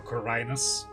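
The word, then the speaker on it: Khorinis: story takes place in the M alley of kinus or kinus as it apparently is pronounced a penal colly violently taken over by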